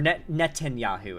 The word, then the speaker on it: Netanyahu: that okay and he is personal friends or Netanyahu is how it's pronounced my bad Netanyahu is personal friends with